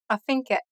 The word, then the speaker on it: affinché: affinché, It ends with an acute accented E. This E sound is more like the one in the word nay.